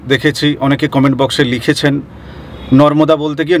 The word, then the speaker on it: নর্মদা: না মন খুশি হবেন বহু মানুষের ক্ষেত্রে আমি এটা শুনেছি দেখেছি অনেকে কমেন্ট বক্সে লিখেছেন নর্মদা বলতে গিয়ে নরদমা উচ্চারণ বের হয় একটা সত্যি কথা বলি আমারও